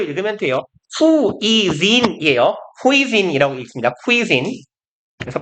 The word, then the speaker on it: cuisine: cuisine. 그래서 발음 기호상 이렇게 발음해요. 아 어디가 멍청아. 네, cuisine이에요. 여기에 악센트랑 장모음이 있어요. 아무튼 whole different cuisine 완전히 다른 새로운 요리를 즐기는 것 몇 가지가 진목적어였어요.